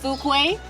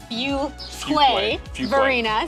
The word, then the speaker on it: Fuquay-Varina: And something else to know, it is not Fukuquay. Like a lot of people don't know how to pronounce it. It is Fuway Verina.